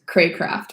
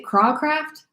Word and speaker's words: Craycraft: It's Craycraft. Most people will say Crawcraft. It is Craycraft. Pretend that there's a Y in there, but yeah, it's Craycraft.